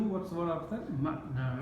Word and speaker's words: معنى: Mim, Ain, Noon, Ya al-Maqsura. But we put Tanween Fatha because, you know, when we stop with Tanween Fatha when we're reading the Quran, we pronounce Alif Mad. Okay? So So if we say- the noon has a fatha on it, right? No, the Noon has Fatha, the Ya is the Mad. Yes.